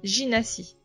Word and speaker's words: Gina & Cie: Instagram du même nom, Ginassi. Alors donc ça s'écrit Gina comme le prénom de Gina, G-I-N-A, et Si, C-I-E comme compagnie. Ginassi.